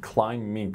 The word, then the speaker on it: climbing: then regarding his pronunciation climbing climbing climb but we don't have BB is silent and then it's not pronounced but then while he